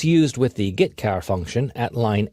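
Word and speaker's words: getchar: input and output the two most common C language character io functions are get car and put car that's how I pronounce them get car fetches a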